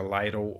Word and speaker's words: Lytle: Muita gente pronuncia Lytle, outras pessoas Little, mas o sobrenome dele se escreve Lytle, Lytle, digamos assim.